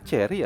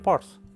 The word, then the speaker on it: Chery: tulisan Porsche ini eh dibacanya Cherry ya bukan Porche ngareap deh tulisan ini tuh